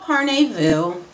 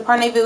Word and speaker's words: Parnevu: and it is called par Vu I think that's the correct pronunciation um I was sent